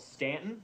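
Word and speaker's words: Staunton: the shenandoah valley called stanton it's got a u in it but you don't pronounce that um and this is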